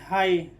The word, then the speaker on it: high: GH खुद किसी vowel के, यानी किसी वोवेल के बाद GH आए तो GH क्या हो जाएगा? साइलेंट। जैसे यहाँ पर है HIGH हाई, HIGH हाई, तो GH साइलेंट है, तो हम उच्चारण किसका कर रहे हैं?